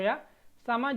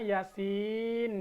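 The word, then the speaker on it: يس: ain S nah tuh ya sama juga dengan ini jangan dibaca Yasa tapi ini kan dalam surah Yasin kita ketemu seperti ini ya Yasin ini dua harakat ini 5 harakat atau boleh juga en harakat sama ini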